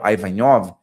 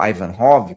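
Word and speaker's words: Aïvanhov: E aqui eu posso citar as obras do Micael, do Homran Micael Avanhov ou Ivanhov, como queiram eh pronunciar, depende do lugar, pronunciar de um jeito ou de outro, que sempre diz que a maior conexão mágica é o próprio indivíduo.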